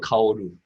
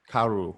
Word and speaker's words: Kaoru: Oh, Or she's an, yeah, how Dump, do you pronounce her name? Dump Matsumoto. Her real name? Matsumoto Kaoru. Karu.